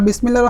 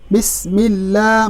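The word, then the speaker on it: بسم الله: বিসমিল্লাহির রহমানির রহিম। তাহলে আমরা বিসমিল্লাহির রহমানির রহিমকে বানান করে পড়ি একবার। বা সিন জের বিস, মিম লাম জের মিল, বিস মিল, লাম খারা জবর লা, বিসমিল্লাহ।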